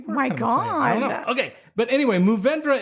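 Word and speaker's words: Mourvèdre: God okay but anyway movendra is at least the way the grape name is pronounced in French geez that was a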